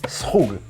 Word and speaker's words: Skhug: always wanted to learn how to make is Skhug. Is that how you pronounce it? I have to say the most difficult thing about making the Skhug is to say it. So Skhug is Skhug.